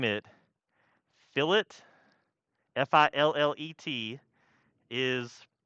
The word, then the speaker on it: fillet: to chamfer today but y'all are much easier at pronouncing chamfer than you are pronouncing philip because i know and sometimes i'll accidentally say filet too so if i do